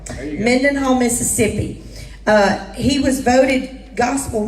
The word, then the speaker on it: Mendenhall: to how to say it y'all it's called Mendenhall Mendenhall Mississippi he was voted gospel music vocalist of